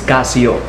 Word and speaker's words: Casio: international uh country of the top nominee or pronunciation in la donne is casio casio so you know guys before i begin